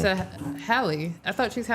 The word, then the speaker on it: Halle: Chloe and Haley. Is it Haley? You're saying it wrong. It's Hie. Say it. Hie. Oh, she's a Hal. Like Halle Berry.